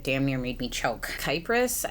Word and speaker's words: Kypris: Kypris, I believe is how you say it. It's Kypris.